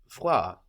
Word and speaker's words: voir: To see in French is voir, voir. Voir. That's spelled V-O-I-R, voir.